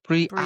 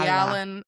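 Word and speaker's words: Briallyn: Brian Bri Allen.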